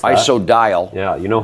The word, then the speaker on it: Isodiol: Isodiol, they pronounce that. Isodiol.